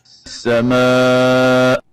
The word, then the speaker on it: السماء: And the right way of pronouncing it is, as we hear from Sheikh Al-Husari, السماء. as-sama. So the Hamza should be pronounced.